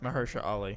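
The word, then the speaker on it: Mahershala Ali: stupid but at least mahersha I can never pronounce it mahersha Ali yes thank you at least you can bring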